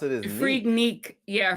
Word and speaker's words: Freaknik: it's because the way a lot of people pronounce it is freak neck yeah freak Nick it's freak Nick that man I knew yeah